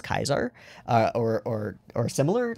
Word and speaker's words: Caesar: are if somebody um if somebody says like a soft c so if somebody says caesar they're wrong it's kaiser or or similar like